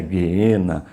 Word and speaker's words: geena: geena uma palavra grega no português a gente escreve geena mas a pronúncia é guena não importa o que